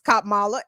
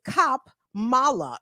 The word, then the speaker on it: Kamala: uh hanging themselves and others about how to pronounce cop Mala it's cop Mala it's so simple it's it's just two syllables